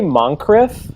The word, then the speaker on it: Moncrief: I say Moncrief, like Moncrief. the accent on the first syllable, but Bob Moncrief, welcome to the Yeah.